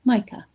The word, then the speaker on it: Micah: Ah, my name is pronounced like Michael but without the L at the end. Micah.